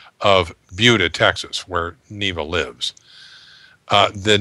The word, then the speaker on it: Buda: and i said ah i know how that's pronounced it's buda not buddha and then somebody wrote in and said no no no it's buddha well neva who lives there says it's buda and this is because originally your daughter is